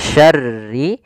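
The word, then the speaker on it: شَرِّ: Kemudian berlafal ra, di sini lafal syarri, syarnya tebal, rinya tipis, syarri.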